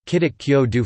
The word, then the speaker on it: 기독교도: Korean still uses Gidagyodo, Kidok Kyo Do for Christian, though the Greek form Kirisuto Gulisuto has now replaced the old Sino-Korean Kidok, which refers to Christ himself.